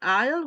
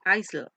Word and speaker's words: aisle: case for this word aisle we don't pronounce the S so don't you don't say ISIL ice okay it doesn't